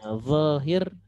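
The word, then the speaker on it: ظاهر: Ya, zahir. Kemudian dia jadi lahir, kenapa? Karena orang Indo bilangnya huruf dho sama lo itu kalau ke Indonesia dilatinkan jadi huruf L ya, jadinya lahir.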